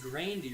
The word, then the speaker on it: Grande: I know that she does pronounce it Grandy. She pronounces it Grande.